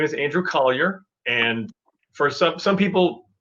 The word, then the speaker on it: Colyer: think call your mom think call your dog and then say andrew collier and then you'll get